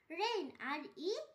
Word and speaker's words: reign: রেইন, REIGN রেইন, এখানেও জি এর উচ্চারণ হয়নি।